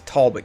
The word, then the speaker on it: Talbot: Quebec otherwise it's Quebec it's like where I live it's Talbot kiss Talbot County unless you live in Talbot County then it's tallbutt County but it's Talbot County because I refuse to